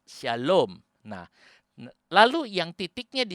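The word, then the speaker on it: שָׁלוֹם: kanan 1.0 sebelah kiri yang di sebelah kanan bacanya Sin ada SY misalnya Syalom itu tulisannya Shalom pakai y saudara atau bahasa Inggris pakai hak Syalom nah lalu yang titiknya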